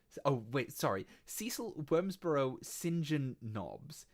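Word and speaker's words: St John: name is cecil wormsborough saint john noms oh wait sorry cecil wormsborough sinjin knobs sinjin is spelled saint john but pronounced sinjin uh oh oh uh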